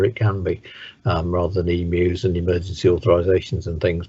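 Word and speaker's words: EAMUs: Yeah, I mean, the whole EMU process, that's how we pronounce it, is EMUs, will carry on as it is.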